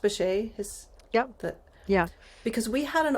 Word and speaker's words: Bechet: Thinking about the roots of jazz, I was just thinking about Sidney, is it pronounced Bechet?